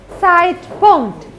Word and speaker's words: Zeitpunkt: How do you pronounce these two letters? I, right? It is I. So, the whole word is? Zeitpunkt.